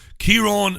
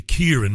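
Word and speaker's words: Ciaran: no mention of that Kiron Martin well it's actually Kier in Martin but it's spelled like Kiron he's the chief executive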